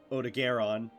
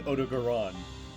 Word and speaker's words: Odogaron: Uh, I found out that ebony odaron, as I've been pronouncing, is actually, it sounds like almost like an Italian dish or something. It's a odoron. Ebony Odogaron.